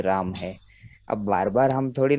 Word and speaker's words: रामाः: हाँ और सिर्फ ये ध्यान रखना है कि जो विसर्ग का ह हम उच्चारण करते हैं तो उसके साथ मात्रा नहीं छुपा रहेगा। लगानी, वो वैसी का वैसा ह की तरह उच्चारण होगा, हा की तरह नहीं होगा, रामाहा कई लोग बोलने की कोशिश करते हैं वो नहीं है, रामाह ह जो है वो छोटा ही रामाह है।